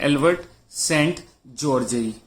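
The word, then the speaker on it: Albert Szent-Györgyi: तो हंगरी के यहाँ पे एक व्यक्ति जिनका नाम है एल्बर्ट सेंट जॉर्जेई। क्या नाम है उनका? नाम है, मैं लिख देता हूं, एल्बर्ट सेंट, ये सेंट ही पढ़ा जाएगा, जॉर्जेई।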